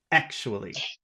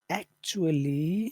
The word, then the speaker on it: actually: final word too but normally it would just be the first syllable actually okay actually yeah but when that